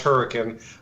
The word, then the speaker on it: Hurricane: clothes in the car and drove to Hurricane pronounced Hurricane West Virginia where Aaron and boat live and